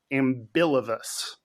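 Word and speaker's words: ambilevous: hands equally poorly is ambilivous. Ambilivous. It still sounds weird. It's the B and the L feel like they're out of order, but that's what the word is.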